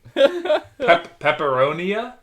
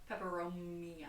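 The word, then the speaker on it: peperomia: Pepperonia? Pepperomia. Pepperomia with an M.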